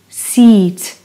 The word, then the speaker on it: seat: Can you hear the pronunciation? Seat. E sound.